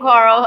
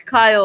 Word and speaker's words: Kyle: So ignore me on saying Carl. I regret that. It's Kyle Larson, not Carl Larson.